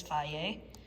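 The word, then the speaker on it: Fage: Otherwise, I like the Faye as well, and that's how you pronounce it, by the way, is Faye.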